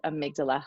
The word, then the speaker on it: amygdala: I know that we've talked, you did a little professional development in our building before, and you've talked about amygdala hijack.